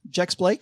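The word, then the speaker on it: Jex-Blake: Jex Blake.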